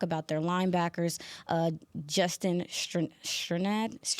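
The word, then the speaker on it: Strnad: Um when you talk about their linebackers, uh Justin Sternad, Sternad, Strainad, yes, that's how you pronounce his name.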